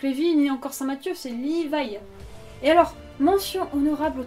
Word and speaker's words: Livaï: correcte est ainsi mais n'alllez pas prononcer liva comme Levy he alors ça non juste non non non et non ce n'est pas BHL